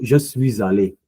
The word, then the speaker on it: je suis allé: So je suis allé. Rester, je suis resté. Je suis arrivé. So please take into consideration that when I say aller and arrivé, I do pronounce a liaison with a liaison.